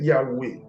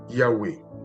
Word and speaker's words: Yahweh: Jéhovah, c'est une traduction en français de Yahweh, qui est la prononciation en hébreu.